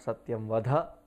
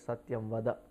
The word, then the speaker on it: satyam vada: has to be correct it is not Sofia mother it is Satyam wada speak truth always in